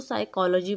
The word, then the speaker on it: psychology: इसको हम पढ़ेंगे फिजियोलॉजी नहीं पढ़ेंगे हम इसको साइकोलॉजी पढ़ेंगे ठीक है ना साइकोलॉजी नफ्स यात ठीक